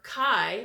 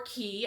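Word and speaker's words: Caye: the love notions summer chi or key I looked it up it's spelled CA ye and you can pronounce that key or chi we here in the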